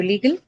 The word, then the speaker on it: legal: So legal. Li, Yeah, so which means the first syllable, right?